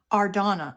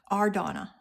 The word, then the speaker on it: Ardonna: Ardonna. Okay. Sorry, I didn't mean to mispronounce your name. Ardonna. And that's exactly how it's spelled.